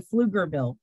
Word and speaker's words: Pflugerville: So when I first got to Pflugerville, and yes, that's spelled PF. We put a P in front of all F words.